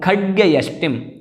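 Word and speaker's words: खड्गयष्टिम्: और फिर खड्गयष्टिम, खड्ग नहीं बोलना, ध्यान रखें, खड्ग अगर पूरा बोल देंगे तो फिर हलंत यह जो है तो खड्गयष्टिम ऐसा बोलना है, खड्गयष्टिम इस प्रकार से।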